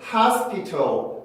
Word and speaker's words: hospital: 그래서 이거를 hospital, hospital 이라고 하는 사람보다는 hospital, hospital, hospital, hospital, hospital, hospital 이라고 발음하는 사람들이 더 많죠.